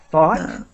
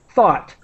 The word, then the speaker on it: thought: help you with thought thought um yeah I I hope that people see that the I'm trying to the pronunciation is like the word hot but with th thought thought thought so that's think to